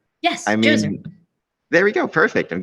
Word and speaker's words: Djoser: The pyramid of, and again, I'm going to get the pronunciation messed up, Djoser, Djoser. Yes, I mean, Djoser.